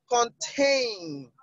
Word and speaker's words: contain: Contain is on the second syllable.